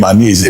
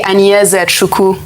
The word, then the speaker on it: Anyeze Chukwu: He said I don't pronounce the name Aneze very well. That Aneze means heaven, but that what I say is something else. What's the correct pronunciation? Well, my full name is actually Anyeze Chukwu.